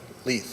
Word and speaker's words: Leith: Leith, am I pronouncing that correctly? You got it.